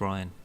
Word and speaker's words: Rian: was the Brian Johnson I think it is just pronounced Ryan right sorry yeah I feel